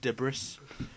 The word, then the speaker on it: debris: by some sort of debris. Debris, I believe, but yes. Spelt debris. Yeah, I don't think you pronounced the S on the end.